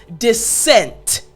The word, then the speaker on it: dissent: So the word again is dissent. Dissent. Excellent! Now, what I wanna focus on is right in the middle, the two S's.